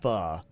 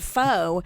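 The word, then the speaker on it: phở: E yeah it's a faux restaurant but it's pronounced fuh so I guess the reason why they're probably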